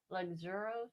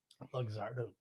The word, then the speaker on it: Luxardo: Luxuro cherries. Luxardo. Lazardo. I can never pronounce it right.